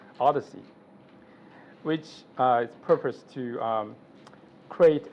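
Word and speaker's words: OHDSI: science and information informatics pronounced the Odyssey which is purposed to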